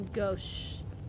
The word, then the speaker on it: gauche: It's a little gauche. I didn't know that's how you pronounce that word. It's pronounced like a gosh.